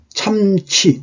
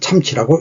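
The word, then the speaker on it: 參差: 그런데 여하독견 어찌하여 홀로 참치, 이 차에 날 차자인데 들쭉날쭉 할 때는 치자로 읽죠. 참치행체 할 때 시경에 나오죠. 시경에 참치행체 할 때. 그래서 이거는 참치라고 읽어야 돼요.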